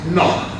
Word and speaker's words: knock: The word knock is not pronounced as knock. It is knock. So it is also silent.